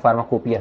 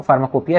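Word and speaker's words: pharmacopoeia: है आपका फार्माकोपिया में, इसका स्पेलिंग ध्यान दीजिएगा आप लोग थोड़ा सा, फार्मा को पी ओ ई आई ए होता है, ठीक है। फार्मा को पोइया टाइप का होता है, ठीक है, मतलब पोइया यहाँ पे होता है, हम लोग फार्माकोपिया शॉर्ट में बोलते हैं, शॉर्ट मतलब इसका प्रोनाउंसिएशन जो है वो फार्माकोपिया, स्पेलिंग पे ध्यान दीजिएगा आप, ठीक है।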